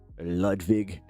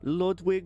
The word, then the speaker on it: Ludwig: Yeah, you must say his name with a little bit of respect. Okay, we do not we do not allow you to say Ludwig with hard W. You have to say the vig.